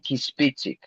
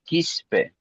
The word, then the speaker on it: Quispe: No, Kispic, no, ese es Kispe. Oh, ya. Ese es Quispe.